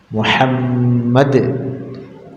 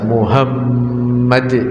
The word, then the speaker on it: Muhammad: Arabnya atau dengan terjemahannya dalam pengucapan lafaz Muhammad harus benar dengan hak Muhammad kalau dia mengucapkan secara salah seperti mengucapkannya dengan H Besar Muhammad misalkan yang keluar dari mulutnya H besar terus maka diganti syahadatnya menjadi